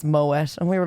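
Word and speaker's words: Moët: know this already but Mo not pronounced Mo it's Moet it's not actually French it's dutch yeah yeah yeah yeah yeah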